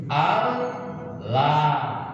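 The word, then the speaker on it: الله: Wahudifat, kemudian dibuang al-hamzatu, hamzahnya. Hamzah yang ilah, hamzah yang kasroh dibuang. Setelah dibuang terbaca apa tuh? Al-lah, gitu ya?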